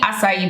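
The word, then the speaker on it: açaí: exactly like to me acai berry or kai berry depending on how you where you are in the world how you pronounce it acai berry this is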